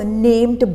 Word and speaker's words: know: डिड यू, KNOW is pronounced as नो, NO, नो की तरह इसको प्रोनाउंस करना है। KNOW में की जो है वो साइलेंट है, मतलब स्पेलिंग में तो हम इसको लिखेंगे लेकिन जब हम इसको बोलेंगे तो के का साउंड नहीं आएगा, मतलब इसको कनो नहीं बोलना है, इसको पढ़ेंगे हम नो, ठीक है।